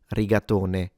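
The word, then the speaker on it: rigatone: Uh, if you only hold or eat one for whatever reason, then it would be a riatony. riatone spelled with an English e rather than an i at the end.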